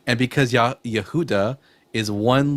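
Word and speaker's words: יהודה: but they thought that the name for Judah in Hebrew was Yahudah because they don't know how to pronounce it correctly. And because Yah Ye Yehuda is one letter away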